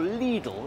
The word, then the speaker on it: Lidl: little the German Supermarket or leedle as we meant to pronounce it is more famous for